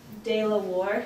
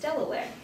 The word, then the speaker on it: Delaware: Baron Delaware and this Dayla War it looks like that it's actually pronounced Delaware and um he was